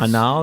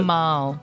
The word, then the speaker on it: Amal: Anal, is that how you pronounce it? Amal. Oh, okay.